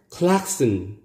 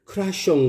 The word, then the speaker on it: klaxon: 우리 한국인은 이 단어를 크라숑 그러죠. 크라숑, 경적이라는 의미입니다. Klaxon, klaxon. 원래 상표명이었는데 이게 흔히들 우리는 크락션 크락션 자동차의 경적 혼이라고도 합니다. 혼. 근데 클락슨. 클락슨.